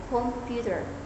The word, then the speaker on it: computer: For example, clapping for the word computer would emphasize the second syllable computer.